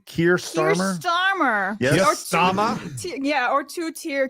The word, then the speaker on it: Keir Starmer: Keir Starmer.